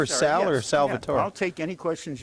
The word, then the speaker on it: Salvatore: me Salvatore, but they tend to confuse me with the Latino element, which is pronounced Salvador with a D. Yeah. I'm Salvatore, and but I do prefer to be called Sal.